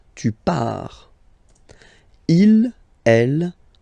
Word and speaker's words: pars: So the first form is je pars. So final S not pronounced. Je pars. Tu pars. Same form. You can see here and here. So final S not pronounced. Tu pars.